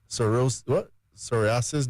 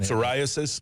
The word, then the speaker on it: psoriasis: Helps treat skin conditions such as eczema, psoriasis. Don't get me right in the pronunciation. Psoriasis.